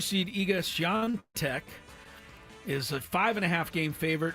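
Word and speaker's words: Świątek: Swiatek. Good job. Said it right, too. Swiatek.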